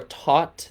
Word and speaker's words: Thoth: it's pronounced tahuti or taut that's the academic way to pronounce it but i just do what i want so i see thoth um so when we're